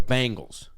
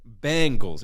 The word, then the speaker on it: Bengals: I thought it was Bangles like Bangles bang it's Bangles we're both wrong so what's the right one it's in between what we're saying Bengals it's like a short e Bengals it's a longy it's